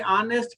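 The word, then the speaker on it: honest: इसी तरह इसके लिए ऑनेस्ट के लिए भी ये साइलेंट कर रहे हैं, तो एन ऑनेस्ट हमने इस्तेमाल किया, एन ऑनेस्ट पर्सन, क्लियर।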